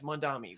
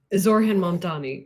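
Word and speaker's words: Zohran Mamdani: Yes, Mondami, whatever. Oh my God. Okay. Say his name correctly so people know. Zorhan Mamdani.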